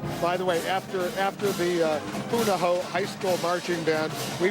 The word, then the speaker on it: Punahou: I keep mispronouncing it. It's all right. Punahou High School Marching Band from Honolulu. The President of the United States graduated from Punahou High School in 1979 at the 2013 Presidential Inaugural Parade.